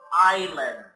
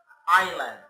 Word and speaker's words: island: water this is called Island I the S is silent okay Island all right now